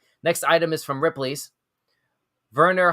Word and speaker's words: Werner: item is from Ripley's Werner hartle I think that's how that's pronounced that name Verner w-e-r-n-e-r Verner hartel creates beautiful paintings